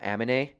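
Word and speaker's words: Aminé: It is Amine because it has the little thing.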